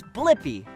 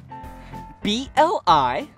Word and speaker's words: Blippi: Yeah, it's Blippi. Let's spell it together. Ready? B-L-I-P-P-I.